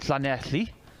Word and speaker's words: Llanelli: I've been to the beautiful town of Llanelli. Well pronounced.